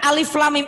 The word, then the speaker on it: alif lam mim: 28 pertama ada bacaan alif lam mim tuh kalau anak tidak belajar huruf hijaiyah asli dibacanya alamak Kenapa ini langsung taunya a inilah ini mah padahal tidak begitu ketika membaca file word